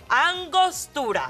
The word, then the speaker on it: Angostura: gold citizens can't pronounce Angostura, the key and vital ingredient in the world's most delicious drink. Listen up. Hello? Angostura. Roll your R's. R. Feels very nice on the tongue, no?